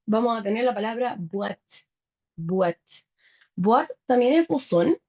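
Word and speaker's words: boîte: Para las latas y las cajas vamos a tener la palabra buat.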